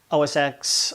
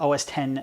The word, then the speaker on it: OS X: they jumped into is osx or os 10 yosemite depending on how you say it some of my viewers